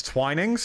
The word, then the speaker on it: Twinings: out of place kind of things yes it's twinings okay okay so I'm I've been saying it